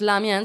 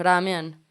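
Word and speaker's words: ラーメン: Entonces, y una de esas cosas era el fideo, en que en pronunciación japonesa ya no es lamian, sino ramen.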